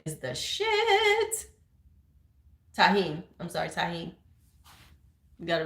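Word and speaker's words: tahini: Cucumbers with lime and tagine is the shit. Tahine.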